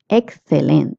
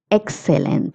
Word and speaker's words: excelente: G in this case, G-R-E is gre pronunciation. That's why we're saying alegre. Interesante means interesting. Interesante. Excelente is excellent. Excelente. If you're in Latin America, you can say excelente.